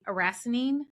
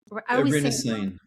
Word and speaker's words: erinacine: So are you finding that lion's mane then is a richer source of the mycelium or the erinacine, or is that how you say it? Erinacine.